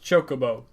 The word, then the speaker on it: chocobo: in foul fantasy I didn't know chocobo was pronounced chocobo and the reason why is because I'm Swedish